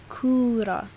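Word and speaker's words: كورة: a perfect example of how it sounds usually is in the english word spoon and an example in arabic would be kura which means ball right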